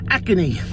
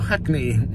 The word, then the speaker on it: Hackney: I'm in her acne acne or Hackney depending on your pronunciation um my old sherbet